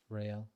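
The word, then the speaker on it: Raël: How does Ra How do you say it? Ryale. Raale. Yeah. So it is a a long a ray.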